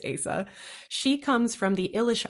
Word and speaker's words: Asa: And look, that is a name that on the page, who knows how to pronounce it? Her name is really a choose your own adventure, but in my head, it's Asa.